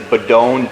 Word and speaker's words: Bedogne: We have a Facebook page, Bedogne Chiropractic, Bedogne, B-E-D-O-G-N-E.